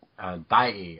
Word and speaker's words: Daiei: Yeah, he was done by a rival film company called Daiei. I think I'm pronouncing that right.